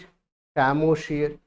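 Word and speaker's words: psammosere: शैमोशियर, Ps silent, what we read शैमोशियर।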